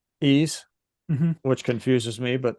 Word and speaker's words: Ys: Now people people pronounce this differently. I always call it wise. Well, What it is a Y and an S, so that makes a lot of sense. It's pronounced ease. ease, Mm-hmm.